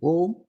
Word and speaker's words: Om: The second starts with O, A and U together, becoming O. And lot of stress is laid on the last syllable, Ma. Om.